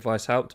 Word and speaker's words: Weishaupt: Again, I always pronounce it Weishaupt because I have a smattering of German from school.